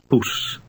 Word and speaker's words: poes: Poes. The Dutch oo sound resembles the double O in the English word fool, only it's shorter. Now read 14 again.